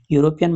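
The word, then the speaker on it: European: यूरोपियन मतलब उच्चारण किससे कर रहा है? यूरोपियन उच्चारण कर रहा है य से। यू एस से यूरोपियन और यह उच्चारण होने की वजह से यहां पर आर्टिकल बन जाएगा ए।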